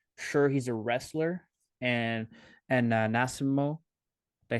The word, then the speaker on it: Nascimento: Sure, he's a wrestler, and Nascimento. Did I say his name correctly? Nascimento, yeah.